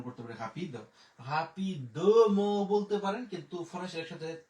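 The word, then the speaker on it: rapidement: রা পে ই পি দে ও দ, একসাথে উচ্চারণ করতে পারে হাপিদ, হাপিদ ম বলতে পারেন, কিন্তু ফরাসি একসাথে তাড়াতাড়ি উচ্চারণ করে হাপিদ ম, কিন্তু হাপিদ ম যদি বলেন সেটাও কিন্তু সঠিক, ঠিক আছে।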